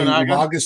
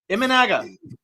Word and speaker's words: Imanaga: Life Journey points out, I can never pronounce his name right. We'll just say Umaga's still out there. Say that again. Imanaga.